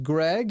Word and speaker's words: Greig: I think the name is pronounced Greg if it's spelled right in here I've got